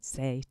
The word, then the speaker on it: Saye: you pronounce okay yeah it's just say nothing fancy yeah yeah I just wasn't sure if there was that extra e had something fancy attached to it but not it doesn't